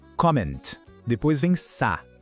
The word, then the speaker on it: comment: O T no final é mudo, a gente não fala, e o N tem aquele som nasal. Fica assim, comment.